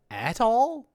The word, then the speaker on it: atoll: Letter A in atoll has vowel a, like in black cat, or at. Atoll.